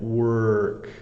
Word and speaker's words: work: work to do so the pronunciation is again work it's almost like the O is making an an e sound like uh so work um lots